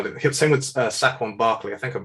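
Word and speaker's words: Saquon Barkley: interested to see how he did because actually sack on barclay instead of tyra kill actually because second barclay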